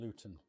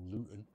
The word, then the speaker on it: Luton: how about you well i'm originally from luton or luton but i pronounced my t's so i'm uh not